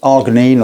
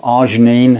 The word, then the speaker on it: arginine: and it's completely natural it's called arginine or arginine however you want to pronounce it it's available from maybe